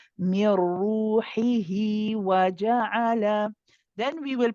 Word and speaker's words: روحه: make sure, yes, but make sure you're pronouncing the kasra. I don't want to hear ruhi, I want to hear ruhi. Mir ruhi. من روحه. That's better. Barakallah fiki.